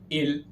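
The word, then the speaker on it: ils: Their pronunciation is as same as the singular il and elle have.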